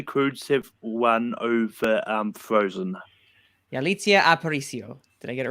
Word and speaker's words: Yalitza: We need a show of Abe corrects some pronunciations. The first episode is Maritza Aparicio. I know, don't even. But Manning, but anyway, Manning, should the Croods have won over Frozen? Yalitza Aparicio.